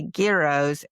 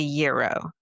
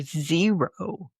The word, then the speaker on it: gyros: So the first one got me because I say I say gyros and it should be euro or zero.